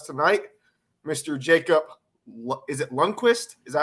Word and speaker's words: Lundqvist: Is it Lundqvist? Is that how you pronounce it? It's Lundqvist.